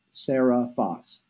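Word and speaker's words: Seriphos: the night Sarah fast you got it right phonetically but it's actually spelled ser I pH OS sarah vas and that that stands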